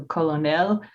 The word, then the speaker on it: colonel: By the mid-17th century, the spelling and French pronunciation had changed to colonel. The English spelling also changed, and the pronunciation was shortened to 2 syllables.